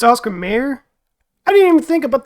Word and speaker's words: Oscar Mayer: I'm pointing at it hopefully I've been calling it Oscar Meer though but it's Oscar Mayer I didn't even think